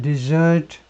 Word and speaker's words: desert: North Korean soldiers will desert. 나는 예상한다. 더 많은 북한 군인들이 will desert. 이 발음이요. 이거하고 같습니다. 이거 먹는 거죠. 디저트요. 디저트하고 똑같은 게 동사 디저트입니다. 이게 이제 명사가 되면 이제 액센트가 앞으로 와요.